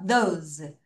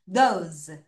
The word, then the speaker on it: those: those. 다시 those. 여러분 여기 S를 도스 이렇게 하지 말고 z. 선생님 이거 z 아니에요? z는 입술을 옆으로 s는 돼요? 다시 발음할게요. 자, repeat after me everyone. those.